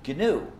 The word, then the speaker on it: GNU: and always will be gnu so please pronounce a hard G when it's the name of our system there's another pronunciation error